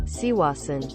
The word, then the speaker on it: croissant: But she also pronounces LaCroix as La Siwa, and croissant as Siwasan. Phonetically butchered. I know. Despite these technically being how they should be pronounced.